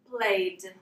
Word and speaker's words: played: So for example, the verb learn, in the past we pronounce learned, okay? Now again with play, we pronounce played.